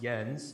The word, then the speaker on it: Jens: My name is actually pronounced Jens. The J Jens? has a Y sound.